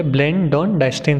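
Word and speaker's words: Blandongdiensten: इस सिस्टम को कहा जाता है, दिस वॉज नोन एज ब्लेंडॉन-डाइस्टिन। ठीक है, जी साइलेंट इधर पे, ब्लेंडॉन-डाइस्टिन सिस्टम।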